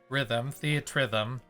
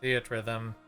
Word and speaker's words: Theatrhythm: I've known it as Theatrhythm. So it's theater and rhythm put together in one word.